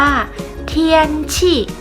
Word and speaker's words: 天气: นะ คะ สภาพ อากาศ ภาษา จีน เรา จะ ออก เสียง ว่า เทียน ฉีก ออก เสียง ตาม เหล่า ชื่อ นะ คะ เทียน ฉี่ แปล